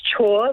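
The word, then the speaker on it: Chhour: your surname uh so it's pronounced chore like do your chores so shaw yeah got it what's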